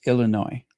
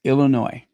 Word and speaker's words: Illinois: Just remember the S is silent. It's Illinois, not Illinois, just Illinois.